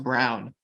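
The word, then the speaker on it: Braun: no no no like his last name is spelled Brawn but they say it's pronounced Brown I I don't know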